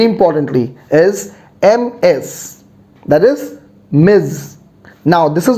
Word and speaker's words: Ms: miss the z sound say after me miz not miss miz all right great so